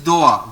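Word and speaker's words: doigt: Doa. Doa. Very good. A little bit louder. I cannot hear you sometimes. It is doa.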